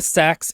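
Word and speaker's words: seax: but here it's but it's pronounced sax um so who mentioned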